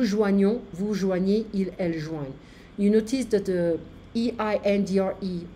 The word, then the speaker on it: joignent: Be careful, the E-N-T is not pronounced.